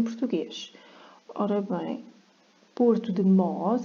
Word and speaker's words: Mós: Ora bem, Porto de Mós, aqui falta um acento, porque senão é Mous.